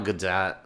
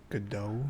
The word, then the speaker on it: Gadot: I like Rachel Zegler, and I think Gal Gadot crushes it. Gadot. I hear both pronunciations. I lean toward Godot. I like Godot better.